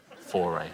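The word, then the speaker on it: Fauré: me the other day how to pronounce foray for yeah yeah it's like the batteries that's how I remember it foray or the class for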